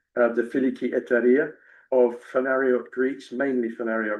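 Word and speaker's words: Φιλική Εταιρεία: The can you pronounce the Greek version? It's the filiki beautifully said the filiki etaria of fenario Greeks mainly fenario Greeks that ignited Greece's struggle for independence.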